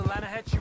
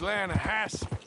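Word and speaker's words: Lannahechee: Down to the Lanahatchee River, I caught some beautiful steelhead trout. You mean the Lanahassee River? No. The Lanahatchee. It runs right near here. Yeah, but it's pronounced Lanahassee.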